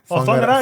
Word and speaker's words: Whangarei: Oh, Have I pronounced that correct? Yeah. Whangarei. Whangarei. Whangarei. Say that was because it's WHA. Is that right? But WH is like Whangarei. Remember Benji and Fakatani. Fakatani. It's WH.